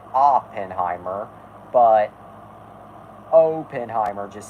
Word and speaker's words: Oppenheimer: and yes I am aware that it's actually pronounced Oppenheimer but Oppenheimer just sounds more natural to me